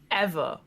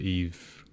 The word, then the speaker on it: Yves: know these names, but I always pronounce it Eve. It's a French name, Yves so try and put a little, I don't know, try to Eve Guillemot.